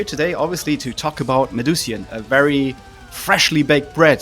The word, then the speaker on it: Medusian: an International interview I'm very pleased to have medusan I hope I pronounced medusan correctly I forgot to ask that though is